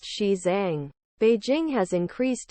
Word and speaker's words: Xizang: Xizang is the standard romanization of the region's Mandarin Chinese name, roughly pronounced Xizang.